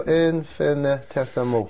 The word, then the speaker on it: infinitesimal: So I'll tell you what, those guys are anything, Kenny, but infinitesimal. Infinitesimal. It's six syllables, so infinitesimal.